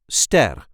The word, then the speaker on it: ster: The stars in the night sky is what we call in Dutch sterren, or singular, ster.